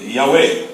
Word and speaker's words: Yahweh: Aí vai, é Jeová, é Yahweh. né? Já nem tem pronúncia achada. Essa é uma pronúncia recomposta, né? Reconstruída. Aí não, é Elohim.